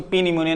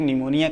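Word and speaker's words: pneumonia: हम इसको पी निमोनिया नहीं कहेंगे। सिर्फ निमोनिया कहेंगे।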